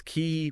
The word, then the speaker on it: Qi: coil and just quickly that's key pronouncedqi so our mission today